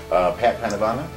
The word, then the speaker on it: Pat Panavana: Pat Panavana, did I say it right? Because I always say it differently each time we go. You did this time.